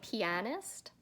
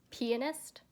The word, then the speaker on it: pianist: that's right anyway and I have a habit of saying pianist instead of pianist because my friend was trained in the piano and she performs and she told me the correct way to say is pianist so I do I say it that way I want to read